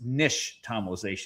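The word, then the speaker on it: nixtamalization: It's an Aztec word and the X is actually sh. So it's nish tomalization.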